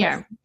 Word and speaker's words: Khmer: Khmer.